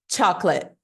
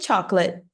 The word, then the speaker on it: chocolate: a gente fala assim chocolate para para ver que letras foram engolidas aqui né nessa brincadeirinha então primeiro a gente não pronuncia esse essa letter o aqui no meio e a gente não